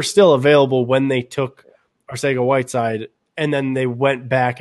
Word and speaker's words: Arcega-Whiteside: Arcega-Whiteside.